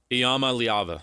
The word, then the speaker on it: Iamaleava: Iamaleava, yep. Iamaleava. Somebody call Greg Wrubell. Let's get the real pronunciation on.